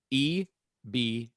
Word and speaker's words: eBeep: if you're curious about the spelling of this, it's EBEEP. All caps, by the way. Oh, so just eBeep, just spelled like it sounds.